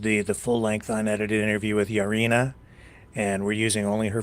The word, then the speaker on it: Yaryna: My name is Yaryna, Yaryna in Ukrainian, but I'm 25 years old, soon to be 26.